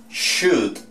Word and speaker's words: should: Estos otros, lo que es would, should y could, nunca se les coloca en la pronunciación la L. Would, could y should, todos sin la L.